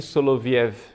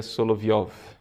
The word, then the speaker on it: Soloviev: Então, o cardeal Biffi nos fala, né, de Vladimir Soloviev. A pronúncia, na verdade, seria Soloviov.